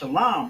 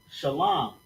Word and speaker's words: Shalom: And then la and m is pronounced shalam, right? So we got to connect the l and the m making that line. Shalom. Just like that. Bam. That simple. Shalom.